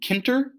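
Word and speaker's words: Tkinter: From Kinter, the T is silent, um, import, and the star just means everything.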